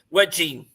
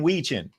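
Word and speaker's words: Wetjen: Wedging.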